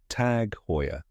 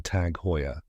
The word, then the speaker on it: Tag Heuer: luxury time pieces all right let's practice the pronunciation One Last Time tag hoyya fantastic you got it thanks for watching today's